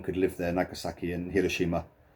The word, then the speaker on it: Hiroshima: Nagasaki and Hiroshima, sometimes pronounced as Hiroshima, in the West.